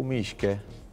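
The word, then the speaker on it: Мишка: اليوم تميمتنا اسمها ميشا أو ميشكا، ميشا ميشكا الأولمبي، وهي تنطق بالروسية بهذا الاسم.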